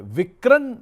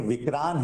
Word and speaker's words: Vikran: आ रहा था कि ये विक्रण नाम क्यों है? ये विक्रम हो सकता था या ये हिंदी वाला विक्रण है? नहीं यह विक्रांत है। विक्रांत सही प्रोनाउंसिएशन विक्रांत माने इनिशियली फैमिली मेंबर्स का नाम है।